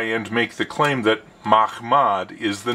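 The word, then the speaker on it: מחמד: Mahmad is a Hebrew word spelled with 4 letters. Mem, Chet, Mem, Dalet. Because this word can sound like Muhammad if it is mispronounced, and because Islam is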